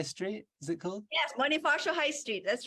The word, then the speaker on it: Bonifacio: this Bonifacio High Street is it cool yes Bonifacio High Street that's right yeah I said it